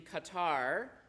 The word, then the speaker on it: Qatar: who are living in Qatar um gutter if you know how to pronounce it correctly um with their billions